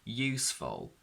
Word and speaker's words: useful: a dark l but it's only pronounced as a weak simple schwa which also gets distorted